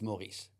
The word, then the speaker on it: Maurice: It's Maurice. Maurice. So Maurice. With a rolled R.